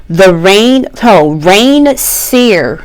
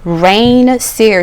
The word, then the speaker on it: Reign Seer: Rain Seer. Rain Seer. She is a small channel, so definitely find her. Her name is spelled REIGN SEER.